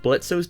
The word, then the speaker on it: Blitzo: It's also good to note that Blitzo's design was reworked from the previous pilot. Hi there, I'm Blitz. The O is silent and So I will